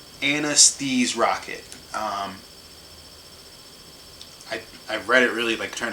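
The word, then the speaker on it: Anesthrokket: It's like Anesthese Rocket. I read it really trying to figure out how to say it so I could say it right. It's like anesthesia but rocket. So Anesthese Rocket.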